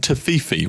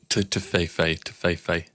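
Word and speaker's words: Toffifee: So I brought some Giotto and Tofifi, which apparently is not how you say it over here in Germany. However, I'm pretty sure the demonstration that Laura gave me basically sounded exactly like Tofifi, but you know, Tofefe.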